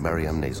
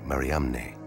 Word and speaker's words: Mariamne: Magdalene was an apostle, then the unique alias Mara on Mariamne's ossuary could be pointing to something extraordinary.